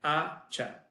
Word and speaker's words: hacha: Okay, hacha, it's axe, but hacha, so the H, like the first H on hacha, it's not followed by well, there's not a C before the H, so the first H is silent. But like shortly after, there's a C and an H, and then that's how you need to pronounce it, like acha, okay? Echo, that's again, the first H are all silent.